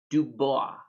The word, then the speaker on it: Dubois: here in wyoming we have a city called dubois so if you were french you'd pronounce it dubois but here in wyoming is